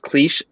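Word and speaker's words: Klich: Somebody that kind of impressed me was I believe his name is pronounced Cleach from Leeds.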